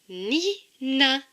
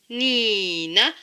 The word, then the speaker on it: Nina: Cela donne comme mot Nina.